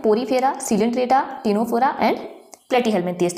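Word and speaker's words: Ctenophora: हमको पता है कि टीनोफोरा की स्पेलिंग जो है सी से शुरू होती है लेकिन ये निमोनिक है।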